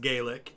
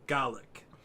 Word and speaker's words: Gaelic: They both have Gaelic as a language, though I found out in Ireland it's pronounced Gaelic, in Scotland it's pronounced Gaelic. Same word, pronounced differently.